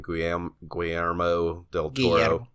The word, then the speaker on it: Guillermo del Toro: Guillermo del Toro.